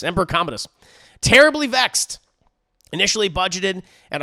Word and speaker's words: Commodus: com how do you say his name Emperor Commodus Emperor Commodus terribly vexed initially budgeted at 165 billion sources